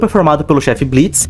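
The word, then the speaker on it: Blitzø: In Helluva Boss we have the group of professional assassins “I.M.P” This group is formed by the boss “Blitz'o” (the “o” is silent) The couple “Millie” and “Moxie” And the furry “Loona” Yes...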